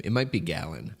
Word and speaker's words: Galen: I think it's pronounced Galen he was also a Greek philosopher don't laugh that's his name it might be Galan I think it's Galen though okay he was also